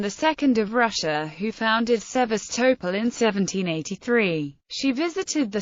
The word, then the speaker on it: Sevastopol: The current prevalent speaking of the name is Sevastopol. The previously common-speaking Sebastopol is still used by some publications such as The Economist.